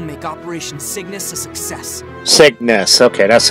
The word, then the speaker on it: Cygnus: capital we will make operation Cygnus a success Cygnus okay that's how you pronounce it I forgot how you pronounce it